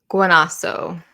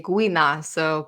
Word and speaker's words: Guinasso: Guanaso. Guanaso. Yes. Uh if we if we go that far, we're going to say Guinaso, but Yeah. But Guinaso is totally appropriate and great and Yeah.